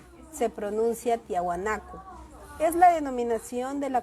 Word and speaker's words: Tiahuanaco: La cultura tiahuanaco se pronuncia tiahuanaco.